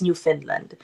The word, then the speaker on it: Newfoundland: happiness can be forever Ang spelling niya new foundland pero ang pronunciation daw pala niyan guys no is New Finland new Finland and Labrador